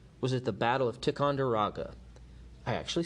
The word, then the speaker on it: Ticonderoga: The cannon seized at Ticonderoga, I got too cocky, I said it wrong, Ticonderoga, would make their way to Boston to help free the city from the British.